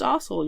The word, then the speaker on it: arsehole: There's not a heavy R. It's just arsehole. You're an arsehole. That's how you say it, you're arsehole.